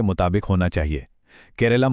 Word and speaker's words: Keralam: केरलम मलयालम उच्चारण के ज्यादा पास है और यह राज्य की सांस्कृतिक पहचान और भाषा के गौरव को भी दिखाता है।